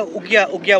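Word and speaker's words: ouguiya: पता नहीं क्या है, उगिया बोलते हैं। मैं तो स्टार्टिंग में काफी टाइम लगा मेरे को ठीक से प्रोनाउंस करने में उगिया, क्योंकि जो लिखा हुआ है ना इसका प्रोनाउंस काफी अलग है।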